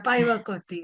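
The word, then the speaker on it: päiväkoti: Shirin, am I pronouncing it right? The daycare, which we Paivakoti. visited. Yeah, Paivakoti, yes.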